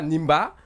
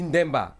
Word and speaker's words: Ndemba: On ne dit pas Nimba, on dit Ndemba.